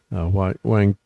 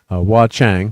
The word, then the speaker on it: Hua Chang: Is what Wang. Okay, I'm trying to say his name correctly. Hua Chang, thank you.